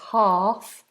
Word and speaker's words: half: line half halfway line Half although it has an L it's silent so we don't say half it's half halfway line and you